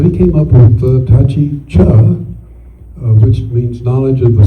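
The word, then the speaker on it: Chih: It's pronounced cha but it's spelled ch h ih.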